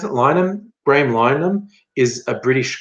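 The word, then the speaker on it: Linehan: For those who don't know, Graham Lynham, how do we pronounce it? Lynham.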